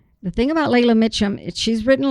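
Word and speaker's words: Leila Meacham: stories, and I love Layla Mitchum. The thing about Layla Mitchum, she's written like 4 different books, wonderful books, and you can look her up in Google. It's spelled Leila, and then Mitchum, Meacham.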